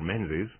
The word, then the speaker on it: Menzies: Not actually Mingus hyphen Banks or anything, but Mingus or Menzies, is the most of Anglophone sort of pronunciation.